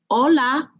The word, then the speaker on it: hola: know hola means hello hola remember the H is silent hola next adios goodbye